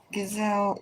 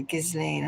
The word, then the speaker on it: Ghislaine: So, it looks like Gazelle is Gazelle. Gazelle, she is ready. Gazlain, rather. Gizlane, I'm saying her name wrong. Got called away.